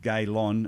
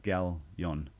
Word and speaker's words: Galyon: I actually said Gaylon instead of Galyon.